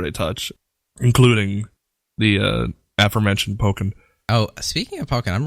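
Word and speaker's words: Pokkén: If you look at it, it looks like Pokken, but knowing the two components of the word, it's Pokken. And Pokemon and Tekken.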